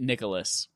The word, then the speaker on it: Nicalis: employees in the video are calling it Nicalis. Like the name Nicalis. Okay. I can see that. It's not spelled exactly like Nicholas, but I can see that.